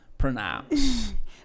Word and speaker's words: pronouns: Pronomes é porque, como é que pronuncia ele? Pronouns. Viu aí, não, Labi? Pronouns.